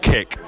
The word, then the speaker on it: CIC: It's spelled C-I-C in capital letters, so I think it's meant to be pronounced kick.